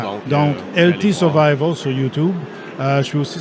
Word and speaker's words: LT Survival: Donc, juste pour faire un petit historique, là, pourquoi les deux lettres qui sont prononcées séparément.